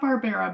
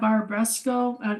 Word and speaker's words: Barbaresco: I think it's pronounced Barbares. Barbera. Bar. No, it's not Barbera, Oh, but that's Spanish, Barbaresco. right? Yeah, Barbaresco.